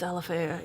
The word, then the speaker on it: Alafaya: pronunciations, Yeah. right? Oh. So how about like Alafaya? Alafaya, yep. Alafaya? It's Alafaya, yeah.